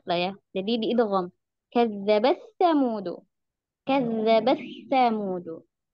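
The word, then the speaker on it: كذبت ثمود: Padahal bacaan riwayat Imam Hafs an Asim jalur Syatibiyah itu taknya dibaca yuzhar ya. Kazzabat samudu. Karena ada bacaan riwayat lain ya, riwayat Imam As-Susi baru bacanya dengan idgham.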